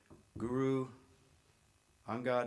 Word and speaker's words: Guru Angad: Okay, starting at the far end, Sher Singh with the, I'm not sure I can pronounce this properly, Guru Angad Institute of Sikh Studies.